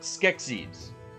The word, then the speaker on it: Skeksis: Skeksis. That's how you pronounce it.